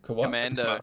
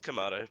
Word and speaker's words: Kamado: Commando. It's Kamado. It's Kamado because I've heard heaps of people say. I've heard heaps of people say Commando, and I'm like, it's not spelled like that.